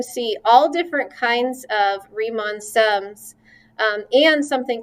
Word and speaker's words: Riemann: are what we call rhymin sums riemann sums oh my gosh i didn't look it up ahead of time so i can't remember the pronunciation i want to say riemann riemann it is okay it's riemann sums you know i'm so